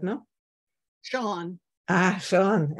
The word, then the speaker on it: Sean: I always say Sheehan because he's written Sheehan. I'm not so good in English. Yeah, Sean. It's Celtic, actually. And they pronounce things very differently from what they're spelled.